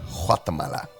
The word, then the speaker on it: Guatemala: Me and Nicky set off for Guatemala, or as the Spanish say, Guatemala. I always get made fun of for saying it wrong.